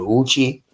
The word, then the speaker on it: Yuchi: Uh the Uchi or but you will see it's spelled with a Y, the Yuchi, the Uchi.